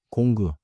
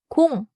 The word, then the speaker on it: 공: In English, final 이응 is a nasal ending, like 엔징, without a hard G release. 두 번째 핵심입니다. 끝에 그를 붙이지 마세요. In English, do not say 사랑그, 공그, or 방그. 세 번째 핵심입니다. 사랑, 공, 방은 부드럽게 끝나요.